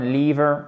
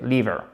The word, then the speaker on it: liver: Et c'est un I court. On aurait tendance à dire, nous francophones, liver, c'est faux, c'est liver.